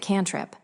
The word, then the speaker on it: CNTRP: They pronounced it canrip.